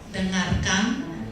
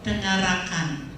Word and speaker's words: dengarkan: This, for example, when you pronounce dengarkan, so we have sound R and K. Then you put sound sound A. Dengarkan, but you pronounce dengarakan.